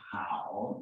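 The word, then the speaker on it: 好: This is pronounced hao in modern Chinese.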